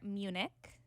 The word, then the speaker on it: Munich: So last time we were together, it was before Munich, right? That's how you pronounce it.